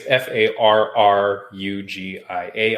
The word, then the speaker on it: Farrugia: And for those listening, it's Farrugia.